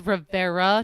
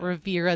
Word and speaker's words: Rivera: so I'm all like, Yara Rivera, in case you missed it earlier. it's Rivera, not Rivera.